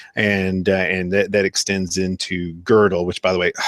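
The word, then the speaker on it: Gödel: which by the way I always calling godell actually girdle and you know I was pronouncing the I pronounce his name wrong forever and nobody ever corrected me and so now I've got a habit of calling him godell instead of girdle but in our eyes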